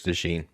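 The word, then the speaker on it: DeJean: pronounce his name John is it dejon or Dee pry sure it's dein what Cooper Dee so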